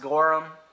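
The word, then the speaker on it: Gorham: these three Sterling serving pieces I believe it's pronounced gorum that's how you're supposed to say it um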